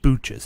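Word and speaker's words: Booches: like Butch's but pronounced Booch's? Yes.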